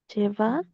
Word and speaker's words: cheval: Cheval. Cheval. Bien. Bien fuerte la B corta. No se olviden que la B corta se diferencia de la B larga. Entonces, cheval. ¿Vi?